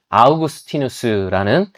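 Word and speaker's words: Augustinus: 여러분 아마 그 어거스틴이라는 사람 라틴어 발음으로는 아우구스티누스라는 4세기에 있어 살았던 그 교부가 어렸을 때 남의 집 과일을 훔쳐 먹었다는 이야기를 한번쯤 들어보신 적이 있으실 겁니다.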